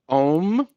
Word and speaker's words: om: me which was um the phrase om actually has four syllables and the last one is the silence afterwards i have heard that